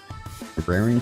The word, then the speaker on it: raring: say raring or has it always been pronounced rearing? Engines are rearing to go. I Hold on. I got to look. I got to figure this out. Rearing. I I swear I've heard people say raring. Raring to go is um the standard idiom meaning